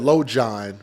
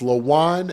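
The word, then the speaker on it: Lojuan: father is named Lan I almost said lojan but it's Lean l o j u a n lean sessions they spelled his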